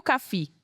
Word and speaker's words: CAFI: Pra gente começar, Gracinha, eh, a gente sabe que o CAF é CAF ou CAFI que se pronuncia. CAF, Centro Amazônico de Formação Indígena. CAF.